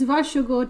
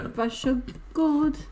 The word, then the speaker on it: Varsågod: Yeah, because varsågod just wouldn't fit that rhythm. Yeah. Varsågod.